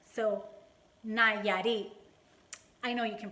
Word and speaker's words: Nayarit: It's kind of like Nayo Mama, but it's Nayarit. So Nayarit. I know you can pronounce it.